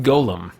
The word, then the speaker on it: golem: hi to me anywhere Oh what's this golem card which brings me to just a a minor pet peeve of mine that golem geo LEM is pronounced golem that's when like a like a creature by